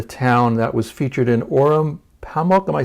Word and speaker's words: Orhan Pamuk: Turkey, in a town that was featured in Orhun Pamuk, am I saying it right?